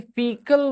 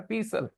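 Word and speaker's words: fecal: तो वैसे ही फीकल होना चाहिए वो वर्ड का प्रोनाउंसिएशन। वो पढ़ रहे थे सर फीसल, क्या पढ़ रहे थे? तो माय डॉटर सेड, पापा इज इट फीसल? It should be फीकल, isn't it?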